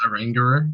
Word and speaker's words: Oranguru: Alright, I'm pretty sure it's pronounced Oranguru because it's an orangutan.